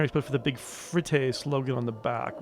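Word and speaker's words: FRITTTE: the shelves all right it's frit that's how you say it like fret your money away what's the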